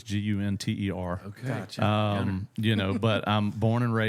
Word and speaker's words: Gunter: I say it like it's got two N's in it, but it's Gunter.